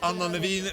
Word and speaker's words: Anne Nevin: Anne Nevin, or Anna Nevin, pronounced in the Norwegian fashion, the winner of the women's race.